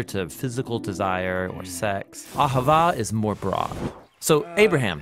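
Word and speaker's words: אַהֲבָה: languages as it is in ancient Hebrew it's pronounced Ahava it both basically refers to the kind of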